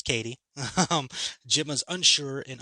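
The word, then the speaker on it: Cady: orphaned eight-year-old niece Katie it's spelled c-a-d-y so you want to say caddy I I apologize it's Katie um Jim is unsure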